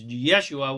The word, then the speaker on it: Yeshua: The truth is Jesus, whose correctly pronounced name was Yeshua, was a perfectly divine, Christed source master of pure unconditional love, just like all the rest of us.